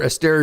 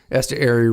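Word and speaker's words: Esteury: cover Eststeria Ruiz. Eser Ruiz is actually how you say it there.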